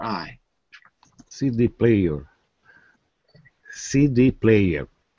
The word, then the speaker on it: CD player: more you can stress the first word even more hang on a second CD player C c d player on the D CD player CD player